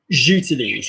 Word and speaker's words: j'utilise: So basically, if we have je and utilise, Meghan's the je, utilise is Sig. So how do we put them together? J'utilise, yeah?